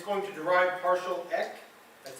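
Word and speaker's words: PartialEq: top and bottom and it's going to derive partial X that's how we pronounce it as partial X and partial order right so what is the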